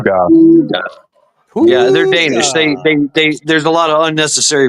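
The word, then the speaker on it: hygge: I was thinking higgy, right? That's how I'd pronounce it, higgy. But no, it's hooga, Huga. of course, Well, because it's Danish.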